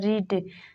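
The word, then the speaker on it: read: रहता है for example रीड रीड में ई के बाद ए आया है इसमें ए साइलेंट है वैसे ही टी पीक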